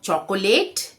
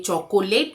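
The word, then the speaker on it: chocolate: यह tomato tomato मतलब टमाटर ये टोमेटो नहीं है टो टो टोमेटो अगला शब्द है चॉकोलेट नहीं ये चोकोट नहीं है ये चॉकलेट है चोक और लेट चॉकलेट चॉकलेट ये तो हम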